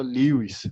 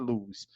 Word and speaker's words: Lewis: de luz tá luz a gente fala lewis mas na verdade a pronúncia certa e luz não representação de luz